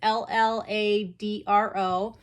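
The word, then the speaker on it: Lladró: I don't know if that's how you pronounce it. It's Lladro.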